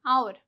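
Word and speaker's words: hour: लेकिन अगर उससे पहले एच है तो हम इसे क्या बोलते हैं? और बोलते हैं। आवर। ठीक है? लेकिन यहां पे जो एच है वो साइलेंट है। साउंड किसकी आ रही है?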